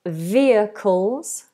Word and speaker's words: vehicles: Vehicles. We don't pronounce that H, by the way. That's a silent H.